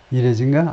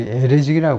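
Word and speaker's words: Erez: 이레즈인가? 아니 에레즈라고 발음하겠죠.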